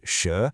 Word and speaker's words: 蛇: Next up we have sh pronounced sh.